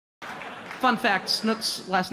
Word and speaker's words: Snook: fun fact Snook's last name is actually pronounced snook but I just can't do that